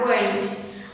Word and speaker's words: weren't: Thế còn với quá khứ này thì mình sẽ có là wasn't hoặc là, lưu ý với từ này đọc hơi khác một tí nhá, mình sẽ đọc là weren't.